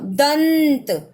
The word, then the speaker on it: दंत: तो यूज किया, लेकिन इसका उच्चारण कैसे होगा, न, न, दंत, दंत।